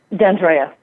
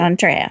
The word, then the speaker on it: D'Andrea: And did I pronounce that correctly? D'Andrea? D'Andrea. Thank you. D'Andrea.